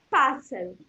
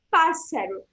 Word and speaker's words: pássaro: Eu tô vendo que no espanhol também tem o acento na primeira sílaba, porque a primeira sílaba é a sílaba mais forte, e aí fica pássaro, certo? Então, atentar a essas duas coisas na palavrinha pássaro.